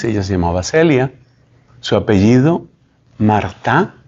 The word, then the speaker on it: Martin: llamaba Celia su apellido Marta se pronuncia en francés se escribe Martin ellos